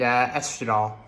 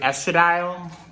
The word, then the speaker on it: estradiol: I pronounced it estradiol, but it's estradiol. I just was saying it weird because it's the first time I'd ever seen the word.